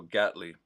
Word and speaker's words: Gatley: Rhymes with cat. Okay, so Gatley.